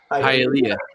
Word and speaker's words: Hialeah: I think it's pronounced Hialeah. Hialeah.